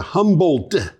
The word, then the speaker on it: Humboldt: located in humboldt county humboldt the minecraft d huh you've got to pronounce that d yeah humboldt it's hard to do the microgrid provides energy